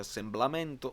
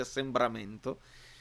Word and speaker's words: assembramento: che ho imparato che si dice con la R e non con la L. Non si dice assemblamento, ma si dice assembramento.